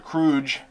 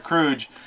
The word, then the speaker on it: Crooge: played by christopher lloyd mr crooge kind of rhymes with scrooge mr crooge uh he um takes